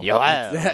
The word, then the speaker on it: Yoel: it's spelled Yoel. I thought it was like Joel. I'm like, you can say it's Joel. It's not Joel though. Yoel.